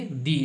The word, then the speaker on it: the: आने वाला जो है THE इसका उच्चारण क्या होगा, दी होगा, ठीक है।